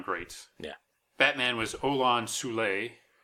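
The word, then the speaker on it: Soule: Batman was Olin zulay who oddly I've heard it pronounced fool but he was he was in probably you know just about every TV show the 60s and 70s he made he was in tons of westerns okay all over the place and he was also in some old-time radio shows where it was definitely pronounced suea and yeah the radio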